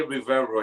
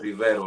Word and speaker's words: Rivero: I don't say Rivero anymore. I'm saying Rivero now. Because that's the way it's pronounced.